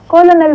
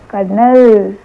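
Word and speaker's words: colonel: और वो वर्ड है सी ओ एल ओ एन ई एल और बोलने का काम उसने हम पे छोड़ दिया। पूछता है। इसे क्या बोलेंगे? आप बताओ इसे क्या बोलेंगे? कोलोनल बोलेंगे। नहीं इसे बोलेंगे कर्नल।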